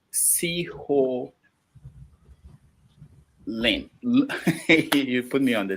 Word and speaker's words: Siollun: I'll write it down for those who want to know how to pronounce this. Seehonlun. So. Now swallow now, like swallow.